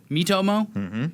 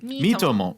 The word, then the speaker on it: Miitomo: There's a smartphone game now called Mitomo. How do you pronounce it? Mitomo. Mitomo. It's like me and then Tommoachi. Tommo is together like you know like Tommoachi means friend.